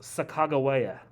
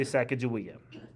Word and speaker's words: Sacagawea: by a Shoshone woman, S-H-O-S-H-O-N-I, Shoshone woman, named Sacagawea. Pretty sure I did a project on that. I'm sure you did. I've also heard her name pronounced Sacagawea. That's a second. Most Americans say Sacagawea.